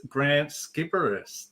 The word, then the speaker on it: Grant Sciberras: I'm your host, and today I'm joined with my special guest, Grant Skipperus. Did I pronounce it?